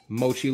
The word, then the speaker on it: Moqi: way there is the mochi logo and company logo snail right there why it's pronounced mochi i have no idea even though that's a cue but it is what